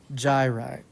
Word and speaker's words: gyri: gyrus gyrus is singular gy is plural and it's pronounced with a J gyri next little lobe to